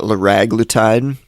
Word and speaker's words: liraglutide: so we've got uh lorag glutide uh I've also heard it pronounced liraglutide uh probably liraglutide is the most common pronunciation I've heard uh brand name is